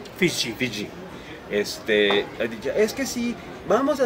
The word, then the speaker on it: Fiji: correcta en el momento que Fiji, ¿cómo se pronuncia? Fiji.